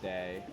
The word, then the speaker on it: die: And then their empire is called Die Erbauer. And so I searched. I know that DIE, which is pronounced D, means the.